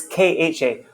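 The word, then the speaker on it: খ: before I mentioned that there's aspirated and there's unaspirated and aspirated consonants. So there's ka, and then there's kha, ka, ka, ka, and then ga, ga, like that.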